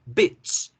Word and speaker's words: bitch: Perra, bitch, bitch, bitch.